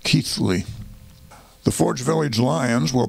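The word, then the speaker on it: Keighley: by the way is spelled ke i g h l y but it's pronounced keithly the forge Village Lions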